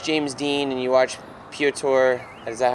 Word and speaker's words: Piotr: I watched, like, you watch James Dean and you watch Piotr. Is that how I say his name? Piotr, yeah.